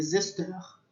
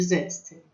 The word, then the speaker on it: zesteur: Então, mas eu vou falar para vocês, o nome do utensílio seria zesteur. Mas a gente não utiliza essa palavra. Mesmo eu, que sei falar a palavra correta lá no Senac, eu chamo de zester, tá? Que é o que a gente chama aqui. A gente aportuguesou para zester, que faz zeste.